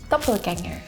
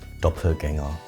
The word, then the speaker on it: Doppelgänger: Doppelganger, really different pronunciation, but it just means like two the same, right? Doppelgänger. Pretty similar. Pretty the same.